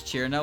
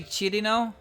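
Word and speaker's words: Cirno: level of energy as people who pronounce cheerno with three syllables like sure you're correct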